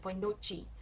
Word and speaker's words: boa noite: Same thing with boa noite. We say good night in the north like this, boa noite, and in the south it's boa noite. There's a lot of Portuguese books that I've been using have you pronounce it with the chi at the end, which is southern, because most people travel